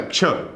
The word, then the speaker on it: क्ष: दिख रहा है क्ष, तो ये कैसे बना है, तो आप देखिए इसका जब आप उच्चारण करेंगे तो आपको यहां पर एक मिलेगा क और एक मिलने वाला है यहां पर क्ष।